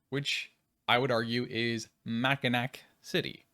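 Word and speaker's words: Mackinaw City: I would argue is maak City yes it's spelled MAA but it's maak along of course with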